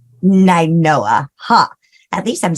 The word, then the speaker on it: Nainoa: Am I pronouncing that right? It's Ninoa. Ninoa, huh?